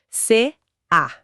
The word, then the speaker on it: CA: É bem comum a gente ouvir K, sabe? Como se fosse uma sílaba só. Mas o correto, e isso é crucial pra conformidade é pronunciar as letras separadas. C A.